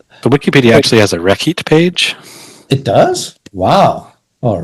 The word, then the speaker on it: rekhyt: Like it's still R, H, double Y, and then they spell the T out, which our scribe doesn't write because, hey, we're Dynasty 20, so the T is not pronounced.